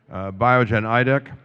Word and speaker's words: Biogen Idec: Okay, so this time I'll pronounce the name of the company properly. Biogen Idec.